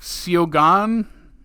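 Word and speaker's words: Suo Gân: It's spelled Suogan, and the A has the little house on it. So it's like Siogan.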